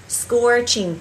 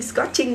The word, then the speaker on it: scorching: Các bạn có thể sử dụng từ scorching, scorching, không đọc là scot nha. Các bạn ơi, ghi nhớ cho cô từ này là từ scorching, scorching, scorching, scorching, scorching, không phải là scorching, scorching nhá, ghi nhớ cho cô như vậy ạ.